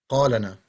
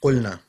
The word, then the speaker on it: قلنا: قالتنا قالنا. It's قلنا.